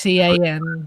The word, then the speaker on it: Sean: Sorry, that's Scene. not Sean. Scene, it's not. Scene. It's not Sean.